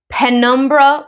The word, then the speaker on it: penumbra: It is a full moon in Libra penumbra lunar eclipse. Now, I don't know if I said that right. It's Penumbra.